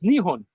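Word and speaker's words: Nihon: it Japan yeah right but they say Japan in Japanese it's nion yeah why they just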